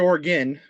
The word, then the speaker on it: Oregon: We pronounce it Oregon.